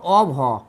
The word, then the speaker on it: of: অফের এর বলব অভ এটাই হচ্ছে আসল উচ্চারণ অফ আর এটা অফ